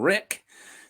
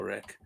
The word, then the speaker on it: Ryk: We are headed north of the wall today to talk about a guy named Rick. It's not spelled like the normal way to spell Rick, but it still counts.